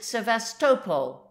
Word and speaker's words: Sevastopol: command we arrived at sevastopol the Russians pronounce it sevestopol with the accent on the third syllable here the yacht was